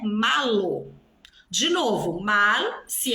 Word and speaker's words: mal: De novo, mal, se é o contrário de bien, é um advérbio, certo? Esse mal se escreve com L. Olha a pronúncia do L, mal.